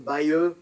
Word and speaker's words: Bayeux: There's the Dojo Foundation has a protocol called the Bayeux protocol, trying to pronounce it the French way.